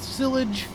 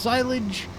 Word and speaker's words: silage: wood chips, we were doing some stuff with silage, which it's actually pronounced silage.